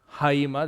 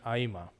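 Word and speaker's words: αἷμα: just a little explanation the erasmian or classical pronunciation would use the rough breathing haima that's where you get the hemoglobin but you would typically just uh have the pronunciation aima for modern and koenig greek next technon is child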